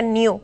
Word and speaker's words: GNU: Sí, GNU, se escribe GNU y se pronuncia new, como nuevo.